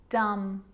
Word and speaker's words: dumb: me I'm not pronouncing the bee I'm just pronouncing the M consonant sound climb Krum lam some dumb plumber and the letter B is often silent